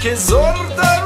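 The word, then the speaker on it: Kyzylorda: Quizorda region is how you pronounce me.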